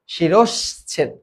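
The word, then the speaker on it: শিরশ্ছেদ: মানে শিরছেদ করে দেওয়া এটার উচ্চারণ হচ্ছে শিরছেদ এরপরেরটা কি এইটা দেখো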